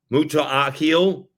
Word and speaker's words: Muta'akil: And now I think I can pronounce his name because it is pronounced the way it looks. Muta'akil was being boxed out as 58-56 South Alabama with a minute left.